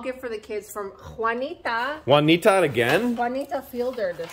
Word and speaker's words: Juanita: It says, a small gift for the kids from Juanita. Juanita again? Juanita Fielder this time. Juanita. We got a lot of Juanitas. We do. You could never have enough Juans. Juanita rhymes with bonita.